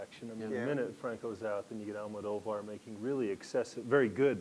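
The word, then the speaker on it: Almodóvar: In any case, I'm going to go ahead and use Del Toro, but we could use I'm going to say his name wrong. Almodovar. Almodovar.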